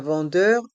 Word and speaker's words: vendeur: Ici, dans le mot centre, il y a le son en avec les lettres E et N.